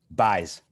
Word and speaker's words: Bjes: Bjes for the last name, yeah? Correct. Yes. How do you say it? Bjes.